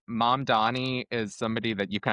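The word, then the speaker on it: Mamdani: people that are running Mom Donnie. Oh, please tell me I pronounced that correctly. Yes. Thank God.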